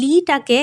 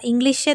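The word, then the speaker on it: Lee: সমসং এর প্রতিষ্ঠাতা হচ্ছে লি বাইচুং কোরিয়ানে এই লিটাকে ওরা ইংলিশে তো রোমানাইজড করে এল ডবলই লেখা থাকে বাট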